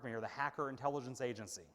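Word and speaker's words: хакер: It's pronounced hacker.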